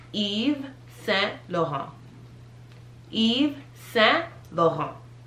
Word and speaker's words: Yves Saint Laurent: but this is pronounced Yves Saint Laurent. Yves Saint Laurent. The T's, all the T's are silent.